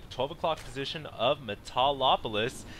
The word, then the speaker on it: Metalopolis: 12 o'clock position of Metalopolis. I have a hard time pronouncing the name of this map. So usually I just call it Metopolis, but yeah, apparently it's Metalopolis or whatever, something like that.